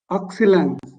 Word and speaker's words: excellent: Excellent. Excellent. जिसे हम comment बोलते हैं ना, comment. Okay, okay. C-O-M-M-E-N-T, comment. So वैसे ही excellent. Excellent. Okay, understood? Yeah, excellent. T नहीं pronounce करना.